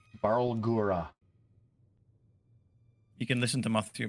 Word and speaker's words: Barlgura: All right, I have to roll for some Balruga. How do you pronounce that? Barlgura. The Balgura. Barlgura.